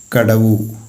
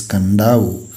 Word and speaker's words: Kadavu: On the island of Kadavu, here the exact pronunciation of Kadavu is given. It's not Kadavu, it is Kandavu. So here onwards we will pronounce it as Kandavu.